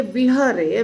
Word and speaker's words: विहरे: तो यहाँ विहरे लिखा है पर जब उच्चारण करेंगे ना बंगाली में तो वो बोलेंगे बिहरे। ब्रजे ब्रज व्रज व्रज और ब्रज सेम है।